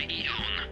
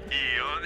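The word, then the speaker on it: AEON: Tylko wymawia się Ion. Ion jak Igor, jasne.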